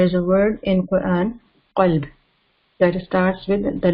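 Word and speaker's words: قلب: So we say qalb. But people, if they don't make, and if they don't pay attention, some people say kalb. Okay, they don't make it heavy, and then they don't pronounce from the proper place. So they make mistake. They say kalb. So qalb means heart, and kalb means dog.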